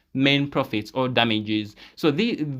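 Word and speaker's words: mesne: will pronounce it as Meine it is m e s n e it's m pronounce it's pronounced as main profits or damages so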